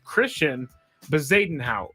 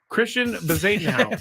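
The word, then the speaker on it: Christiaan Bezuidenhout: I heard them say it on TV, and I looked up the phonetic pronunciation. I think it's Christian Bezuidenhout, so we'll go with that.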